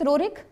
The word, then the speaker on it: Roerich: Roerich, spelling लिख लोगे, Nicholas ROERICH, Nicholas रोरिक, comma the Andretta, ये